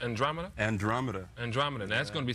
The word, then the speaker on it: Andromeda: This is how do you pronounce Andromeda? Andromeda.